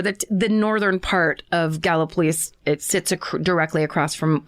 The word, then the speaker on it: Gallipolis: So this story took place in and around the cities of Point Pleasant West Virginia and Gallipolis Ohio, which I can't believe that's the way it's pronounced when it looks exactly like Gallipoli.